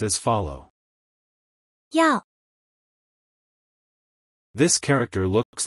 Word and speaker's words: 要: This word is pronounced as follow. Yao.